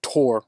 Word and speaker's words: Thor: Another place in which Odin is depicted with an eye patch is in the Thor, pronounced Tor originally, but in English, Thor, Marvel Comics and movie adaptations, most famously played by Anthony Hopkins.